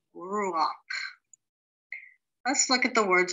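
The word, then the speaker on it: רוח: Now, when head ends a word with a patak, it is pronounced ak and not ka. So this word would be ruach.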